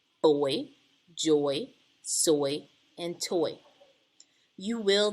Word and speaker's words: Joi: Now, Miss Smith does have a little sister, and my little sister's middle name is Joy, and it's spelled J-O-I.